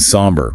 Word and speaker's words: somber: Dim and somber. Remember that pronunciation.